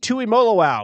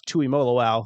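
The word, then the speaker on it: Tuimoloau: He can spell it, but um joking aside, like Polynesian players, I I love him because you just pronounce every letter and it it's very straightforward. Makes it easy, right? Exactly. So JT Tui Molo, thank you.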